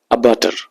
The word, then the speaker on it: abattoir: तो ऐसी जगह जहां पे पशुओं को काटा जाता हो तो उसको बोलते हैं अबाटर। क्या बोलते हैं? अबाटर। तो आपको याद हो गया। इसकी स्पेलिंग भी थोड़ी महत्वपूर्ण बन जाती है, तो उसको भी देख लेंगे, ABATTOIR, ठीक है।